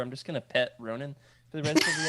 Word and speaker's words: Ronin: Ronin.